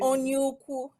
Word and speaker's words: Onyeukwu: Onyeukwu.